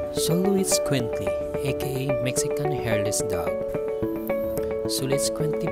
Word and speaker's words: Xoloitzcuintli: Xoloitzcuintli, aka Mexican Hairless Dog. Xoloitzcuintli, pronounced as Xoloitzcuintli.